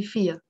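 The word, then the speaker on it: فيها: In her, which means in it, which means has, السنة فيا, that ha, we will not pronounce it, we will say فيا.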